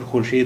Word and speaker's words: خورشید: دیکھیے خے واو رے شین یہ دال، اس کا تلفظ دیا ہوا ہے خورشید، یہ ڈبلو واو کے لیے خورشید، یعنی واو اس وقت بولا جاتا تھا. اب اردو میں واو نہیں بولا جاتا ہے. اس کے دو تلفظ ہیں، خورشید بھی ہے اردو میں اور خورشید بھی ہے، دونوں ہی بولے جاتے ہیں.